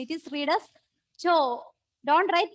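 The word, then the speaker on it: τ: No, I'm just right there for the pronunciation. It is read as cho. Don't write TAW like that.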